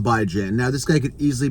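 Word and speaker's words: Bijan: that's by Jan Robinson now some people call him bejon but I call him by Jan now this guy could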